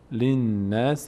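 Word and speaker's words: للناس: باشن خوانده نمیشن لام این لام اول کسره لام می‌چسبه به نون تشدیدار چون نون نیاز به آخرین حرکت ما قبل داره لنسی لنسی لنسی لنناس لنناس لنناس حسن مثل خط بالا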